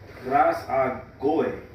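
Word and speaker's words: προσαγωγή: That word access in Romans 5 and 2 here in the Greek is pronounced prasagoy.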